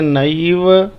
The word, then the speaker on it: नैव: नैव ना में ऐ की पाई है तो ऐ का उच्चारण करेंगे, बोलेंगे नैव जानामि पूजनम।